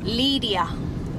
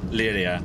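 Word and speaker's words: Llíria: point out to me that's pronounced Lydia Lydia and I are I a Lydia Julia Julia Julia or Lilia whatever your preference is my name's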